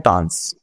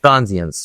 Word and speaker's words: transience: तो ट्रांस का मतलब है Transience. ट्रांजियंस, sorry the pronunciation is ट्रांजियंस, ठीक है, सही प्रोनाउंसिएशन हमें पता होना ज्यादा जरूरी है, द प्रोनाउंसिएशन इज ट्रांजियंस, ठीक है।